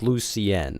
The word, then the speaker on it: Lucien: But my name is Lucien. Like it's it's it's pronounced Lucian, not Lucian.